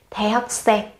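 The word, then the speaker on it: 대학생: The hắc sen. Cái từ hắc sen này các bạn cần gấp đôi phụ âm khi phát âm nhé.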